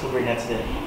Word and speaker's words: Kubernetes: When I was starting off researching about Kubernetes, ang pronunciation is Kubernetes.